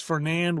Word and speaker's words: Fernand: And I think it's Fernand with a silent D, believe it or not.